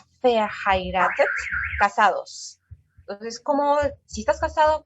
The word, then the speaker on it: verheiratet: El V se pronuncia como una F, verheiratet, casados.